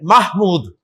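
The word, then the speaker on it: محمود: तो महमूद नहीं है, महमूद। अरबी प्रोनाउंसिएशन महमूद है, नॉट महमूद। महमूद में तो आप मीम के नीचे जेर बोल रहे हैं, जबकि यहां पर मीम के ऊपर जबर है, तो महमूदुन।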